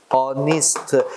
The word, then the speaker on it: honest: honest, 상속이니 뭐지? air. 그제? 또, 상이나 명예가 뭐야? honor. 그제? 이 단어들은 형태는 또 뭐야? 자음이지. 근데 발음상 H 발음이 안 되지 않나? 이건 묵음이라 그러지.